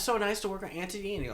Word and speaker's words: Antony: But they would pronounce it as Antony. They say it real fast.